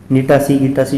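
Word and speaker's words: Gnetaceae: जो फैमिली है वो है ग्नीटासी, ठीक है, गिटासी जो कहना है, लेकिन GNE ये स्पेलिंग है और टासी, ठीक है, TACEAE, ठीक है, जैसे कहते हैं गिटासी इफेड्रा की फैमिली है, ठीक है।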